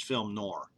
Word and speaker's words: film noir: the word film NOA I'm going to probably use the Texas pronunciation which is film nor okay I don't like